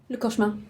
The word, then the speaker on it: le cauchemar: How would you say it? Cauchemar? Le cauchemar. Yeah. That is French for the nightmare.